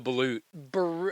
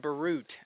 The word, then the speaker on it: balut: Balut. Balut. Oh, Wow, I was hoping. shit. I was really hoping you'd go for the balut. I said Barut.